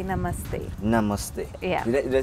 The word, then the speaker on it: namaste: In Hindu tradition, we say namaste.